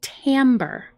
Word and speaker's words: timbre: of this word because it doesn't sound like it looks this word is actually pronounced Tambor Tambor Tambor is the